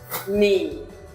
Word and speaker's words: knee: The letter K is not pronounced when it comes before the letter N. For example, no, knife, knee.